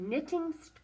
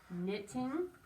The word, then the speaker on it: knitting: i'm going to write knitting scarves this is a tricky word because it begins with a k and not an n the k is silent knitting just like in the